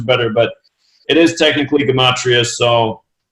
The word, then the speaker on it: Gematria: recently been corrected, and somebody said, Zach, you got to start saying the word correct. It's Gematria, not Gematria.